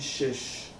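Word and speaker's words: שש: Isso aqui se pronuncia assim. Shesh.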